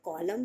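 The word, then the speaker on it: column: किसी प्रोजेक्ट में जो कॉलम बने होते हैं उससे हम बोलते हैं कॉलम और उसमें होता है एंड साइलेंट फ्रेंड्स आपके लिए साइड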